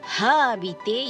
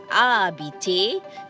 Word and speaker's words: habiter: Please remember the H is silent, so you don't say habiter, you say habiter, to live or to stay.